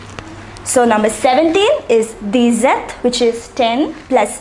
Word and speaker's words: dix-sept: The number 16 is pronounced as seize. Say it once again, seize. The number 17 is dix-sept.